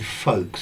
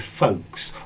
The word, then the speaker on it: folks: Notice the pronunciation of this word folks. So, yes, let's see. Ben, Victor, Count, Manna, Gianluca, Richard, Fikret, and Montespan. for different folks. Notice the pronunciation of this word folks or folk. It rhymes with joke.